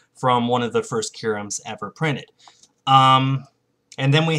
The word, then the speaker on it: Q-Ram: So now we have this Q-Ram EX. That's how it's pronounced. Q-Ram.